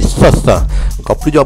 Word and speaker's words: Thoth: À pas confondre avec Soch, c'est Soth. Encore plus dur à prononcer, hein. Soth, Soth.